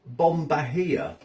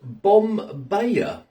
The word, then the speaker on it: Bom Bahia: side of the box I would have said bomia but on the box here it says pronounced bomb baaya this is what the